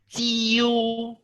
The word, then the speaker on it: 九: This 9 is actually tone number 3. Now remember tone number 3, what is that? Is tend to agree. Going down and going up.